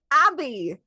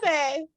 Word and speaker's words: Abby: There was the audacious Abby. Yes, that's correct. I think it's pronounced Abe.